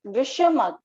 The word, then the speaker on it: visham: now the four type first is visha mug you can write it down in your pronunciation that's how you're going to pronounce visham which means fluctuated visham